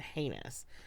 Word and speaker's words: heinous: crime and I use the word heinous because it rhymes with Amos yeah now I while